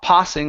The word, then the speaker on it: passing: one here is uh passing right here instead of PA passing with an a sound this is an a okay a wide sound P passing passing trees